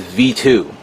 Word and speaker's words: V2: This is referred to as the Veetwo or Veetwo, or oh no, you know what? You have to pronounce it as V2, Veetow, V2.